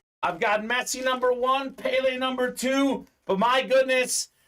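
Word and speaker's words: Pelé: pile going on yeah Pele Pele however you want to pronounce it I think it's more like Pele uh in uh his homeland uh he recently passed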